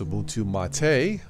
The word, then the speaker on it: Ubuntu MATE: If you're new to all this, I'm running something called Ubuntu Mate, or it's pronounced Ubuntu Mate.